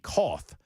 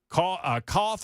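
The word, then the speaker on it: Cauth: Koth or Kuth, I don't know how to pronounce his last name, C-A-U-T-H, Koth, said, "I'm just fortunate that the hitman got a conscience and reached out to me.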